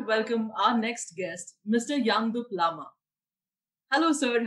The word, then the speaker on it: Yangdup Lama: would like to welcome our next guest mr yandu plama hello sir how are you and i hope i've pronounced your name right hello amrita uh first